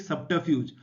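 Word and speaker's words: subterfuge: इसको आप कैसे प्रोनाउंस करेंगे, सब ट, इसमें आर की साउंड मत देना, ट और फ्यूज, ठीक, सब्टरफ्यूज।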